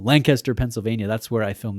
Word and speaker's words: Lancaster: I'm trying to say it like a local and I fail every time. Lancaster, Pennsylvania. It's like one syllable, I've been told. Lancaster, Pennsylvania.